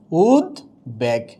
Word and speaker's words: উদ্বেগ: এ আছে, তাহলে কি হয়ে যাবে উদ্বেগ। কি হয়ে যাবে? উদ্বেগ হবে, বয়ের উচ্চারণ হবে।